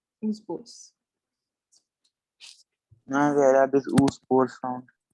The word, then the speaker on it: oospores: oospores, double O, oospores.